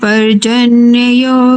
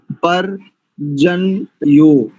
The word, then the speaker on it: पर्जन्य: बोलिए परजन्य यो हां इसमें दो य का आ रहे हैं आपके चरण में केवल एक य का पर जन यो परजन्य परन जन्य परजन्य ठीक है और प्रजाभ्य